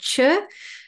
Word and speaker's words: Chöd: practice, a traditional practice called Chöd, which is spelled C-H-O-D with an umlaut over the O, which means severing or cutting through.